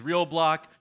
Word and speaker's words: RLBLC: separate um and so the name of the business is real block we don't like vowels uh so it's spelled rlblc don't be confused by that but the real thing